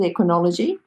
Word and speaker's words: Equinology: Now, this Equinology Equine Body Worker, is that how you pronounce it, Equinology?